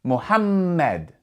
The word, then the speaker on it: Muhammad: And because there are two M's, you're going to pronounce that M with a bit more strength. You're going to stress that M sound, Muhammad.